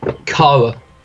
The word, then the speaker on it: Chara: Chara, hard C. I don't know, some people say Chara, I say Chara. It's based off the word character, so...